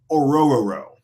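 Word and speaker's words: Orhorhoro: Ruke Orororo. And it's, again, for everyone out there, it's Ororo row your boat. And that came directly from him on how to pronounce his last name.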